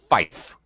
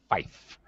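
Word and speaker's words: five: Notice 5 is pronounced fife. Fife.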